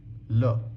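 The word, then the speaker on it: لام: Okay, next letter came a lot in the previous examples, but it's like la, and it's technically just a an inverted L.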